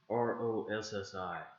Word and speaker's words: Rossi: You wanna know how that's spelled? R-O-S-S-I, Rossi.